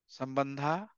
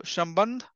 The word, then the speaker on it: sambandha: Sambandha, avidya. Sambandh is the, if you really say sambandha, o and a is same thing. So Shambandh, avidya and prayojan.